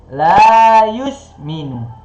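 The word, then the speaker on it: لَا يُؤْمِنُ: Gimana bacanya? Bacanya agak panjang sedikit. La yusminu. La yusminu. La yusminu. La yusminu. Dia 2 harokat atau 1 alif.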